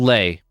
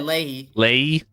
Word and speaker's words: Leahy: Kyle Lay. Surprisingly close. You're just missing the last syllable. Lay? Yeah, Leahy.